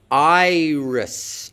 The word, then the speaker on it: Iris: In iris, it can't do that because no English syllable can begin with your. That's not a possible onset, not a possible way of beginning an English syllable. Note that iris ends with an S sound, not a Z.